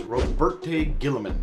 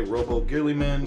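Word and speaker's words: Roboute Guilliman: with the fact that their Prim Mark is roberte Gilman and that's the only time I'm ever going to say his name correctly so if you hear me say Robo Gilman Gilman or gurly man that's their primarch he's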